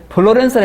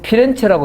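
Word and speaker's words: Firenze: 플로렌스라 했지요. 이것도 곤란해요. 플로렌스 하면 미국식이 발음입니다, 이거는. 요거 피렌체라고 써주세요. 피렌체. 네. 이태리 사람이기 때문에 피렌체라 해야 맞아요.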